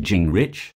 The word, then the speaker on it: Gingrich: newton leroy newt gingrich pronounced jing rich is a well-known american